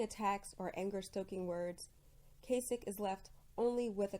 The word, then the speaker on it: Kasich: but almost no one almost no one can pronounce this poor man's name Kasich it rhymes with basic but as I was